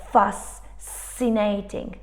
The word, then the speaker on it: fascinating: We wouldn't say something like fascinating. You see, it would become too long, two sibilant sounds together. It would be too much. So the C just disappears.